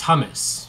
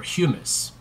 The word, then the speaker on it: humus: organic components of soil is hummus or humus I guess people typically pronounce hummus the the food that people eat but humus is is partially decomposed organic matter so when things die